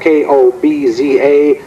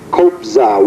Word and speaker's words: Kobza: It's spelled K-O-B-Z-A, Kobza.